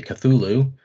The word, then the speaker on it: Cthulhu: if you're wondering about my pronunciation of kulalu or some people may say cthulhu um there are actually